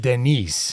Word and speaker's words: Denis: Well, I guess they pronounced it Denise.